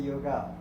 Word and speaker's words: योग: speaking and then if इफ you still want to retain the Sanskrit pronunciation you कैन से योगा और आसन बट इट इज़ नॉट